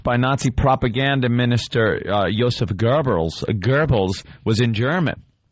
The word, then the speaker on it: Goebbels: It wasn't Hitler was Goebbels No, they have their name wrongly this says gobbles Was that hitler or gobbles?